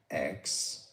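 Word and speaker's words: X Æ A-12: Elon Musk said in an interview that he plans to say it as X-A12, X-A12.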